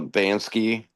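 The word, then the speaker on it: Banksy: This is a Bansky is how you say his name.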